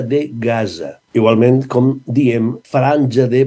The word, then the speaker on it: Gaza: I, naturalment, Gaza, la Z, sempre, ja ho sabeu, sempre, en valencià, és sonora. Per tant, hem de dir Franja de Gaza.